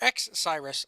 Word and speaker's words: X-Cyrus: We move on to Cyrus, or X-Cyrus, excuse me. That's how you say it.